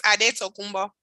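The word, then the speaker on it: Antetokounmpo: How do you pronounce it? The actual before we became Greekified? It's Adetokunbo.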